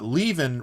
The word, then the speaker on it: Leven: I might be able to help you here because uh Leven rhymes with Steven.